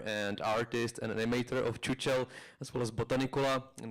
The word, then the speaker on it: Chuchel: It's pronounced CHUCHEL in Czech, but nobody can really pronounce CHUCHEL except for Czech people. So we're happy when people say CHUCHEL because it sounds much funnier.